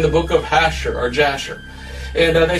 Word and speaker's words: Jasher: I said, what's the book of Jasher, or others pronounce it Hasher?